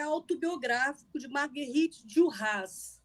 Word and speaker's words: Duras: A gente pronuncia esse S, tá? Essa pronúncia que arrebenta a gente. Porque no francês você acha que não vai pronunciar o E, mas o nome dela você fala, né? Marguerite Duras, pronuncia.